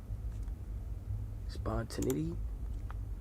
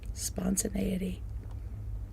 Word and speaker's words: spontaneity: Spontin spontane how do I pronounce that spawn spontinity spontaneity spont spont oftent times when I don't